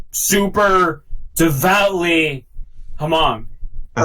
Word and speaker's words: Hmong: No, it's Hmong, but it's like it's HMONG, but then the H is silent, so you just pronounce it.